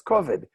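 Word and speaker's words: כבוד: So How would Ashkenazim pronounce it? The kamatz, the T-shaped vowel under the k, would be an o and not an a, and the stress accent would be on the first syllable, so it's kovid.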